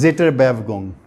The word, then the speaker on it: Zitterbewegung: इसको pronounce जेटर बेवगोंग कौन सा किसी को जर्मन आती है यहां?